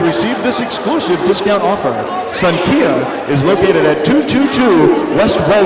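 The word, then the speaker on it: Xankia: Head over to Sun Kia Vietnamese restaurant for 15% off your entire bill.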